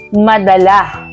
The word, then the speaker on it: madala: pangungusap at kahulugan nito ito ay nasa diing mabilis tama ito ay ang madala dahil ang madala ay